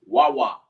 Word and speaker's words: Wawa: It's pronounced Wa. And the word is Wawa. Exactly how it sounds.